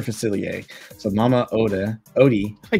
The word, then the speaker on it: Facilier: or false felici what f facilier that's how you say his name Dr facilier so Mama Oda Odie